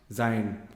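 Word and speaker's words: Sein: is traveling with party it spelled sign but pronounced Zion I kept saying it wrong all this time yeah so nothing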